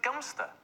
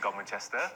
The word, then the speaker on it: Godmanchester: Now, according to the Mail, it says that you pronounce it Gumster. Oh. Now, I've got friends who live in Godmanchester, and they've never called it Gumster.